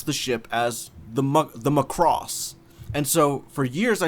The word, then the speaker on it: Macross: weirdly enough it's so when i first watched macross i watched it through the adv dub which is apparently very weird to some people because in that dub they always pronounce the ship as the macross and so for years i said the macross